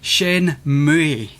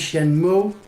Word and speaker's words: Shenmue: Shenmue.